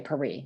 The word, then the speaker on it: Paris: I want to say Paris, it's the French way to pronounce it.